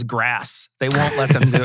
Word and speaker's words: GRAS: It's interesting that people who push natural foods can't bring themselves to pronounce it GRAS as grass.